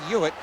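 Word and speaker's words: Huet: there by us cristobal hewitt pronounced h-u-e-t but you throw off that first h silent h trip breaks a stick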